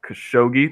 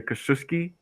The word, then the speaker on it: Khashoggi: seen them pronounce his name like at least three different ways once was Jamal khashoggi that's the most common one I also hear Coast risky or something like that and there was a third pronunciation that I can't remember and I was trying